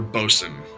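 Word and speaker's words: bosun: those that don't know, Bosen is spelled B O S U N or boat swain. That's the other way to spell it, but the traditional is B O S U N.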